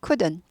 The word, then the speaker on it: could: 수가 없었습니다 돼요 캔에 가거 could 나인데 줄여서 could could 이렇게 돼요 could could L이 무음이에요 could 아니고 L 바음 안나요은 아예 발음이 안 난다 could 트가 잘 발음 안